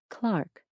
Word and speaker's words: clerk: Although this sound has mostly died out in the United States, it's still heard in England in words like clerk and derby, which are pronounced something like Clark and Darby.